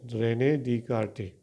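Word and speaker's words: René Descartes: The pronunciation is like that, Rene Descartes, right?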